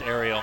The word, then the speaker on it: Ariel: I asked Ariel just to make sure we got it right. And she said, like the mermaid.